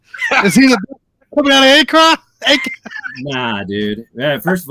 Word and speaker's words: Akron: Is he coming out of Akron? Nah, dude. Yeah, first of all, you got to pronounce it right.